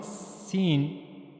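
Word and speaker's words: س: So for pronouncing scene you have to use the tip of the tongue near the inner plates of the upper central incizes.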